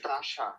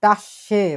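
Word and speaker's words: Tasche: উদাহরণ 2তে দি তাসা, দি টাসে বলে এটাকে, টাসে। আবার উচ্চারণ করেন, তাসে, টাসে মানে হচ্ছে ব্যাগ, দি টাসে মানে হচ্ছে ব্যাগটি।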